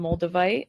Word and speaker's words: moldavite: Actually, that's where I got my first piece of moldavite.